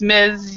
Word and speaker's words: Ms: they hate it so so if you use Miz you'll never never have a problem so but